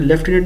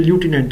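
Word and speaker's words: lieutenant: Basically तो pronunciation लूटिनेंट होता है। ये मैं पहले भी बता चुका हूं कि लेफ्टिनेंट नहीं होता।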